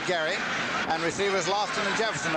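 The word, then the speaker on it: Gerry: Spells it G-E-R-R-Y, pronounces it Gary.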